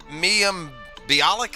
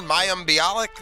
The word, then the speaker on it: Mayim Bialik: to be willing unfortunately right right but it's Miriam Bialik is how you say her name Mayim Bialik the girl from Big Bang Theory I guess